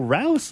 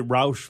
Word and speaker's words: Rouse: lot of people say Roush for some reason the route never understood where the H comes from at the end vanishing Rob see buddy